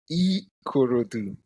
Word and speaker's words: Ikorodu: me earlier before we started recording how to pronounce it. Uh I'm gonna try to say it. Ikorodu. Say it again. Ikorodu. Ikorodu.